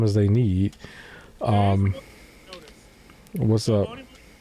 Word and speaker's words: Onimusha: How you pronounce this again? Onimushi? Did I say that right? Onimusha.